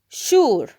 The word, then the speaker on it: sure: Notice here that the S here sounds sh. Why do we pronounce the S sh? Because it's followed with U. When the S letter is followed with the U, we pronounce it as sh or j, like treasure, of course.